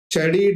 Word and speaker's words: Chari: Chadi dance. The spelling is Chari and it is pronounced as Chadi.